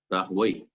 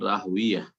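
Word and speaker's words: Rahwayh: করেছেন ইসহাক ইবনে রাহুই এটা হচ্ছে একটি উচ্চারণ এই রাহাই শব্দটির ইমাম ইসহাক রহমতুল্লাহ আলাইহির পিতা রাহুয়াই আর আরেকটি হচ্ছে ইসহাক ইবনে রাহুইয়া দুটি উচ্চারণ নেতা রয়েছে রাহুয়াই যেমন প্রখ্যাত আরবির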